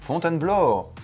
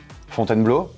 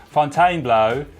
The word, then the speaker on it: Fontainebleau: So on the great debate of pronunciations, we now have a, albeit Belgian French speaker, to give us a proper version of how you should say the word Fontainebleau? Whereas before I was saying Fontainebleau, it actually is...